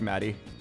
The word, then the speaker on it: Maddie: I really like Maddie. I like that her name rhymes with Batty.